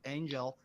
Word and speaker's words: Engel: Oh yeah, Angel, Engel, like it's spelled angel, but without the A.